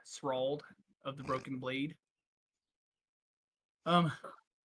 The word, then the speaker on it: Strahd: Oh no, it's Strahd.